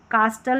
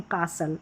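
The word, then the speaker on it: castle: है तो ठीक है एस टी रहता है तो यहां पर टी साइलेंट रहता है लिसन नहीं लिसन कास्टल नहीं कासल ऐसे तो टी नहीं पढ़ेंगे यू के साउंड्स देखें।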